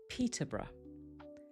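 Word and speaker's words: Peterborough: It's Peterbrra.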